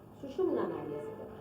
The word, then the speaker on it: सुषुम्ना: ऐसे कहते हैं - कोई सुषुम्ना कहते हैं कोई (अस्पष्ट) कहते हैं तरह तरह से इसके प्रोनन्सिएशन्स हैं लेकिन सुषुम्ना इसका सही माने में प्रोनन्सिएशन है जो कि आप मंत्र में भी उच्चारण कर पायेंगे।